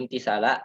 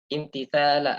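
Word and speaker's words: امتثالا: tambahan kalau mahsuf ya sering kita bilang fanwi bihi imtisala ai fanwi bihi fi qalbik. Nah, seperti itu cara bacanya kita. Fanwi bihi imtithala amrillahi ta'ala fi sitri auratik.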